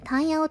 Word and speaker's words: 断么九: 質問ですねタンヤオこの漢字で譚様と読みます丹陽を完成する